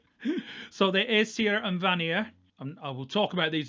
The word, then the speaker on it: Vanir: the a serum vanir that's a northern english pronunciations there for you in fact everything i pronounce is no is a northern england so there is sierra and vanier i will talk about